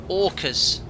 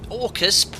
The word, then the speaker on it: Orcas: oh sorry it's pronounced orcas orcas please pronounce it as plural also a shout out